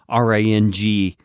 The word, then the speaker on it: Ringr: There's also Ringer, Ringr. Again, feeling allergic here.